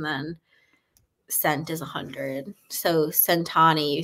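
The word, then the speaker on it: cent'anni: She says it when she cheers is Centani. Centani. It's, yeah. That And means cheers, maybe in Italian.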